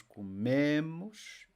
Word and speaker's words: comemos: The word stress, next to last syllable, eu como, tu comes, ele come, nós comemos, eles comem.